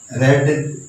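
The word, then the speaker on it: read: इसकी दूसरी form रीड ही लगती है, स्पेलिंग सेम है, लेकिन इसको रेड बोलना है, ये बात को समझ लो।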